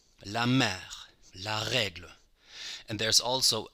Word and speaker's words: mère: It's a very open E, like in the English word help. J'achète, help. La mère, help.